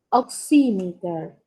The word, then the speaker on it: oximeter: fuese una A, pulse, oximeter. Pulse oximeter. Profe, ¿lo puede repetir? Pulse oximeter. Como si llevara una tilde en sí, oximeter.